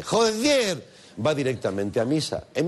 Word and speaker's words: joder: Y si además remata la frase con joder, así con acento en la E, joder, va directamente a misa.